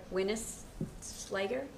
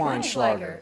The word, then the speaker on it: Weinschlager: So think of a bottle of wine and a little Schlager. Okay. It's okay. Weinschlager.